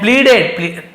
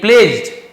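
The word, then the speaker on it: pledged: गया देवी के, एंड प्लीडेड, नहीं प्लेज्ड है ना, प्लीडेड लिखा हुआ, प्लेज जाना होता है, और आराधना की, उसे हम प्लेज कहते हैं, डी के साथ जी जैसे उच्चारण किया जाता है।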